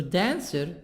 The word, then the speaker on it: dancer: then part sir so dancer two parts two syllables this word two syllables two parts then dancer okay but the stress in the beginning of the word then dancer the sound